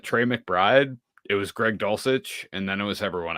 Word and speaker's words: Dulcich: Is it Dulcich? Is that the correct pronunciation of the tight end there? Yes. Yes, Greg Dulcich.